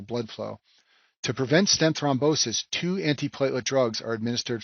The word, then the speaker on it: thrombosis: second stent complication is called stent thrombosis and this name rhymes with restinosis but it's a completely